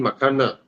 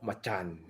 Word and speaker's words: Macan: you get a 2019 makana actually the way to say it is called Machan because that's how you say it in Indonesia pregnancy third row is